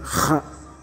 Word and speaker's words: خ: phonation de la lettre Kha. Kha. Kha. Donc, la partie postérieure de la langue monte vers le palais mou en étouffant légèrement le passage de l'air. Donc c'est Kha, se prononce légèrement au dessus.